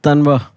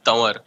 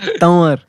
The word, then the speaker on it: Tanwar: Ladies and gentlemen, it is the very funny Tanwa. Uh, Hey Akash, it's Tanwar. see, there we go. Tanwar.